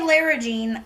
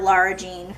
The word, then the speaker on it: Lara Jean: Larry Jean Laura Jean you would think after my watching the movie a bajillion times cuz it's my go-to comfort movie now that I would know how to say her name but I still say Larry Jean I just have always called her that and I don't think I'll ever get used to calling her Lara Jean I mean the worst